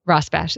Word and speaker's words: Rosbash: I think that's how you pronounce it. You can correct me. Rosbash. Yeah. Rosbash.